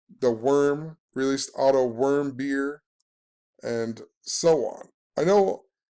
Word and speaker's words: Warmbier: had the murder of although it says warm his name looks like warm beer but way back when that stories were coming out they even showed how to pronounce it and the article on CNN and said his name was pronounced worm beer and then Dennis Rodman